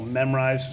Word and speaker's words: Memrise: it's called memorize and it's spelled m-e-m-r-i-s-e so memorize sort of like memorize but spelled slightly differently oh yeah yeah I